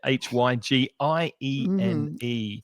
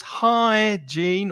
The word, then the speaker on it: hygiene: H Y G I E N E. And the pronunciation is high gene or hygiene if Jean is very tall.